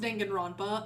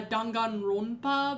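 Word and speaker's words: Danganronpa: Uh I know it's not pronounced Denan Rampa. I just like saying it like that because I don't I don't know how I feel about saying uh Dangan Rompa because that's like I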